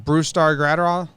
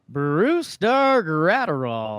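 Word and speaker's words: Brusdar Graterol: Brusdar Gratterall? Brusdar Gratterall.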